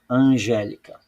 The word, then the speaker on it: Angélica: tem o acento g e veja que a sílaba tônica não é a última nem a penúltima é a anti penúltima então aqui nesse espaço